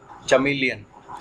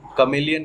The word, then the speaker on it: chameleon: Next यह है एक चमेलियन। तो इसे हम कमेलियन कहते हैं। बेसिकली कमेलियन की स्पेलिंग होती है CHAMELEON, कमेलियन।